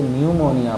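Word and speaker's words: pneumonia: बाद and happy से रोकता है इसलिए इसको न्यूमोनिया पढ़ते अमरुद निमोनिया निमोनिया का मतलब है सीट जीवन है में अनेक ठंडा से बुखार आना धरना देकर उसे हुए न्यूमोनिया कहते हैं उसी तरह से बीजेपी एड्रेस हुआ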